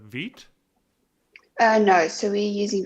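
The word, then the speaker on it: Vite: using um is it i think it's pronounced uh veet uh no so we're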